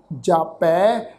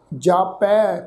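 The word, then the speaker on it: ਜਾਪੈ: गावै को जापै दिसै दूर। जापै पप्पे अखर ते दुलावां दी मात्रा का पाठ आ। जापै दिसै ससे अखर ते दुलावां दी मात्रा। इनू जापे दिसे इस ढंग नाल प्रनाउंस नहीं करना।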